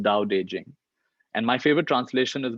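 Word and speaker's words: Tao Te Ching: i n g that's three words but it's pronounced dow daejing and my favorite translation is by stephen michelle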